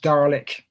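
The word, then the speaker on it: DARLEQ: The result of this as her said was um a metric um which dietms for assessing river and lake ecological quality is pronounced dalek um and there's a team of us involved with this um Steve Juggins was doing the quantitative part.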